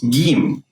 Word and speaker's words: Gim: We call it Gim, right? Letter Gim. Well, it's pronounced like a hard G sound, as in game.